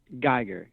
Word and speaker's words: Geiger: Geiger. Geiger. That's what I thought. Like, but, as in counter.